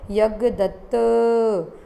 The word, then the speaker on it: यज्ञदत्त: जैसे कि यज्ञदत्त, त में अंतिम अक्षर अकार है, तो इस नाम के अंत में स्थित अकार को यज्ञदत्त, इस प्रकार प्लुत रूप में उच्चारण करना चाहिए।